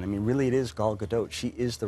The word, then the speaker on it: Gal Gadot: It is once and for all Gal Gadot.